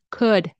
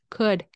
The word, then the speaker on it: could: using this mic again could have remember don't pronounce the L could could could have this trans into